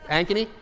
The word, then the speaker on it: Ankeny: we were talking about instead of here's the Ancheny update for the properties now in Ankeny I'm not impressed $300,000 what did you just say you're saying it correctly I know thank